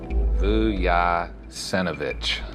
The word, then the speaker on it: Vujasinovic: The most common question I get from people that contact our firm is how to pronounce Vuk's last name. Good afternoon, Vujasinovich Beckham. Vujasinovich.